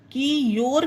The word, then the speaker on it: cure: CURE क्योर, ये देखिए your आया इसमें, क्योर क्योंकि URE है।